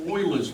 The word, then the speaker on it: Euler: All right, so this leads us to Euler's rule.